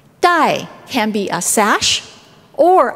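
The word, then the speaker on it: 代: Ribbon or a sash in Chinese is pronounced dai. Dai can be a sash, or another word pronounced dai means generations.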